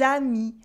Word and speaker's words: amis: friend, un ami, and des amis, friends, with a silent S at the end and a liaison in the middle, des amis.